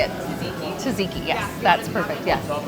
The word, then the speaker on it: Tzatziki: Tzatziki, yes, that's perfect, yes.